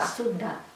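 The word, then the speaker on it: suddha: Sutta, S-U-D-D-H-A, pure, pure, Sutta.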